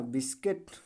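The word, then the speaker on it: biscuit: उसी प्रकार इसको देख लो भैया, बिस्किट ना, क्या पढ़ा जाएगा? क्यूट। ऐसा कुछ लोग पढ़ेंगे क्यूट, सॉरी, क्यूट ऐसे पढ़ते हैं। नहीं, यू क्या है? साइलेंट हो जाएगा। बिस्किट, किट, किट, बिस्कट।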